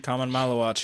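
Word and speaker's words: Khaman Maluach: So I'm about to say his name all wrong, but Kaman Maluach. How do you say his name? Common Malawach, yeah. Kaman Maluach.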